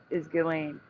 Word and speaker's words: Ghislaine: Yeah, the proper yes, the proper way to pronounce it because it's in French is Ghislaine.